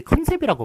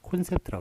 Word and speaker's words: 콘셉트: 그래서 그 컨셉이 아니라 콘셉트. 일단은 그 여러분들 저기 컨셉이라고 많이 이야기를 하시죠. 컨셉이라고 얘기하시는데 컨셉이란 발음 틀렸고요. 뒤에 틀을 붙여야 돼요. 틀을 붙여야 되는데 그래서 컨셉트냐 콘셉트냐 요 둘 중에 하나 고르셔야 되는데 요 발음은 이제 오로 쓰기로 했으니까 콘셉트라고 이렇게 써야 맞는 것입니다.